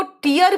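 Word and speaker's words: tear: से in spelling हो जैसे टी आई ए आर बेटा इसको टियर भी कहते हैं जब आपका मतलब आंसू है तब इसका मतलब आंसू हो तो और इसको टायर कहते हैं जब इसको फाड़ने की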